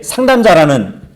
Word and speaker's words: 상담자: 다시 말하면 주님은 나에게 상담자라는 얘기를 하고 있는 것이에요. 발음을 잘해야지. 상남자가 아니고 상담자.